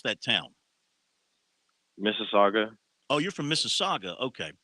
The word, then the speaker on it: Mississauga: just outside of toronto okay how do you pronounce that town mississauga oh you're from mississauga okay from what i